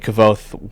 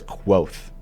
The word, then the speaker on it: Kvothe: i think see i i went with cool vote like kvothe when i was reading two but i think it's i think it starts quoth right they kind of talk about that being how it's pronounced in the book yeah is this hulked